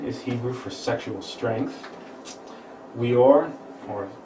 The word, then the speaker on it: Weor: Weor, or pronounce that with a V, Or, means and light.